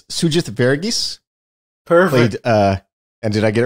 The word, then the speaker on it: Sugith Varughese: I will, because he helped me make sure I got the pronunciation right. It's Sugith Varughese.